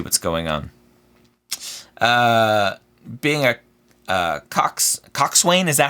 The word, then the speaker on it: coxswain: It's coxswain. Okay, it's just spelled weird. Yeah. Okay. It just spelled weird. Yeah. It doesn't sound like how it's pronounced.